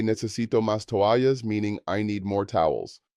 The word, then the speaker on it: toallas: The double L again makes the Y sound. If you need extra towels, you can say necesito más toallas, meaning I need more towels.